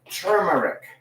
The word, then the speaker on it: turmeric: Only about a couple of weeks ago did I suddenly realize turmeric is pronounced turmeric.